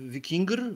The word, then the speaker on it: Viking: i oznaczało generalnie słowo Viking Viking właściwie bo tak trzeba to zaakcentować oznaczało wyprawę za morską